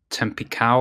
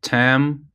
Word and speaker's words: Tampico: Okay, so he reads a Tampico or something. So this one worked for me. Okay, Tampico.